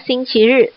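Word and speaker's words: 星期日: Satu dibaca xingqi ri, satu lagi dibacanya adalah xingqi tian.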